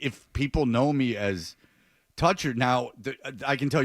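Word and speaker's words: Toettcher: And I said, "Okay, but if you spell it t o e t c h e r, you might as well just, you know, put a symbol." Like, no one's going to know that's toucher, so just spell it phonetically.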